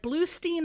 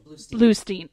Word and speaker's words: Bluestein: Bluestein or Bluestein? First one, Bluestein.